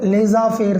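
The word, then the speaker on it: laissez-faire: a laser fair theory hero pronunciation and spelling are somewhat different you must pronounce it as a laser fair theory laser fair it is a french word it is a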